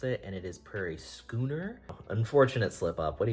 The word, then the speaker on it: Prairie Schooner: So, uh, the day after I shot this video, I looked up how to pronounce it, and it is Prairie Skooner.